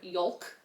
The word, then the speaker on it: yolk: Oh, someone says, please stop pronouncing the L in yolk. It's wrong and also sounds gross. True. Yolk. Y-O-L-K, yolk. No, it's a yolk. This is the yoke of my sweater. Y-O-K-E. There's Y-O-L-K. There's no L. Don't pronounce the L.